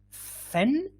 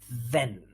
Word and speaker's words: then: question so is it fen or is it then is it fen or is it then okay good everyone is going for b yes that's correct yeah we say then yeah good let's look